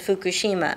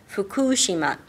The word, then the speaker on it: Fukushima: have to explain one thing about it the pronunciation of the word fukushima everybody says fukushima and i've said that too myself because i'm so used to the american pronunciation but the correct pronunciation is fukushima and i try to correct my pronunciation when